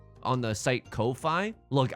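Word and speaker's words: Ko-fi: can buy me a coffee on the site Kofi look I think it's just pronounced coffee but it's spelled KO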